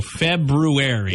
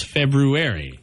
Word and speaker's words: February: months ago February yeah it's not February it's February yeah February but I I said I've said that so many times if no it's February no it's not there's an r in there it's not a silent R there's two RS actually but it's the one after the B February how about the fruity